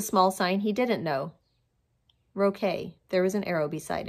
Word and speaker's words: roque: It's pronounced roque, Daddy was saying.